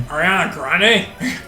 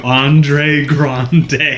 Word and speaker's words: Ariana Grande: Ariana Grande. Yeah. I remember, okay. She got the award, but he didn't say her name right. He said, and the award goes to Andre Grande.